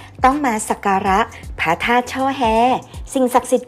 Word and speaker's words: ช่อแฮ: ธาตุ ช่อแฮ ผม ว่า เขียน เป็น อักษร ธรรม ว่า ช่อ แฮ และ ช่อ แล ซึ่ง